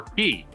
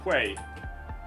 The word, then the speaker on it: quay: a k yeah k q a y it's pronounced K or key looks like it should be Quay it does look like that that that's a